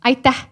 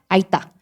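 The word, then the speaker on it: aitäh: 제가 듣기로는 때난 아이따. 따도 있고 또 아이다도 있어요. 어떤 것을 지금 함께 배워보면 좋을까요? 아이따. 아이따.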